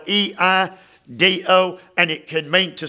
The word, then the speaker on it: eido: And the verb see there, Eido, it's spelled E-I-D-O, and it can mean to see here and see good days.